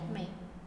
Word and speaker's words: मैं: is MEIN. This one. MEIN. मैं. okay. Same pronunciation like मैं same pronunciation MEIN, but meanings are different.